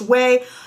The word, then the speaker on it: Ouai: blown away by whey whey is of course o-u-a-i but pronounced whey they have three different